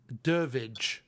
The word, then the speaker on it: Durivage: Durivage. You don't say the I. Durivage.